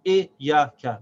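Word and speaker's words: إياك: So the first part is E, then ya, but because the ya has a shad, we can't stop the sound of the ya. We say iya. And then there's a kaf that has fatha, which is pronounced ka. So this is now 3 syllables. Iyaka. See, Iyaka.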